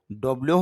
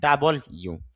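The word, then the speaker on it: double-u: ডাবল ইউ, এই বর্ণটা নিয়ে অনেকে কনফিউজ থাকেন, ডব্লিউ হবে না ডাব্লিউ হবে না ডাবল ইউ।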